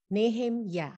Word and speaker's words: Nehemiah: today we meet a guy called nehemiah in hebrew is pronounced nehem ya ya comforts ya stands for yave and nehemiah